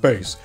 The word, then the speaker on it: Bass: got wrong or whatever yes I know it's pronounced bass yes I know that the robots and the